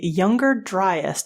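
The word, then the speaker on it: Younger Dryas: to a 1,00year-old cold snap known as the younger dryest. Did I pronounce that correctly?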